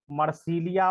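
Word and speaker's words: Marsilea: जो तुम पूछ रहे थे ना कि ये फर्न क्या है, मर्सीलिया, देखिए इससे आपका प्रोनाउंसिएशन भी बेटर हो जाएगा।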